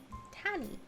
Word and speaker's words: Tanny: I say it's tan like you get a tan and then e tanny.